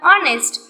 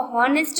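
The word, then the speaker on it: honest: For example ऑनेस्ट. ऑनेस्ट, ये जो word है ऑनेस्ट वो एच से स्टार्ट हो रहा है लेकिन हम उसको हॉनेस्ट नहीं बोल सकते.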